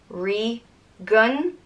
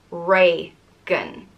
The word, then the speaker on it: Regan: And it's pronounced Regan or Regan.